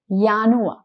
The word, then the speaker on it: Januar: m April May uni since J in do is yach the sound of both these months we'll have year also the sound of yanu so yanu uni Huli